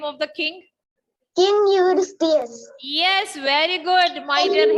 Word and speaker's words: Eurystheus: Are you able to pronounce the name of the king? King Eurystheus.